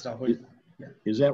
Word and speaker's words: Rahul: Pronouncing that right, Rahul? Yes, sir. Yeah. It's Rahul.